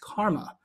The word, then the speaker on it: CCRMA: alums actually walking alongside karma and that Stanford center of computer research in music and acoustics CCRMA that is pronounced karma that's me in my